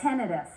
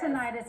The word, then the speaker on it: tinnitus: you for having me what is the proper way to pronounce this tenus we accept tenius as well but most audiologists say tenus tenus okay I've heard